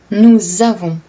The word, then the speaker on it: nous avons: Quand on dit « nous avons », donc au lieu de lire un S, on lit un S, mais on prononce un Z, parce que le premier mot se termine avec un S, mais le deuxième mot commence avec une voyelle.